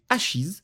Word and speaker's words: Ashes: C'est Ashis, je le prononce en anglais parce que ça me semble être le plus naturel mais c'est un manga français de Stéphanie le Chevalier paru chez Ankama.